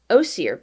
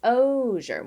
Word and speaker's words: osier: obviously man-made waterways and it reads osir beds osher oshir fine we're gonna watch a pronunciation video about it as a teenager i carry the camera give me a second where i went oh sure so it's ozier well thank you pronunciation